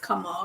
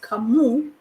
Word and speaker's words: Kamau: It's a male name, and it's not pronounced Kamau, it's pronounced Kamu.